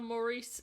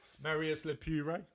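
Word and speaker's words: Marius Lepure: Strictly winning professional Oti Mabuse and her partner Maurice, is that how you say it? Marius Le Pure.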